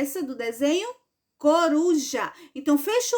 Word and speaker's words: coruja: tem três sílabas então a palavra coruja ela é trissílaba porque tem três sílabas e ela é par eu tô na porque porque a sílaba tônica dela é a penúltima Tá bom vamos